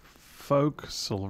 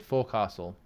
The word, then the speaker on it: forecastle: though did it oh smith you pronounced for folk soul wrong folks i did forecastle this is what i